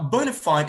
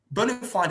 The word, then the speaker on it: bona fide: Now, bona fide is not a wrong pronunciation. B-O-N-A-F-I-D-E. Bona fide is not a wrong pronunciation, but that's American. But if you choose to